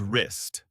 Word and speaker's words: wrist: The word is wrist. W R I S T. The W is silent.